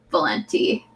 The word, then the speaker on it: Valente: I just started reading Radiance by Catherine Valenti. Is that how you say her name? Yeah, I think it's Valente. Sounds good. I think I heard John Green say it like that once at some point.